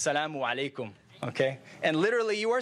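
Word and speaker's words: As-salamu alaykum: welcome to do that but it's Salaam alaikum okay in Arabic they have a cup they have some some alphabets that are difficult some of their pronunciation some vowels and one of them is the eye ok so it's salaamu alaikum ok and literally you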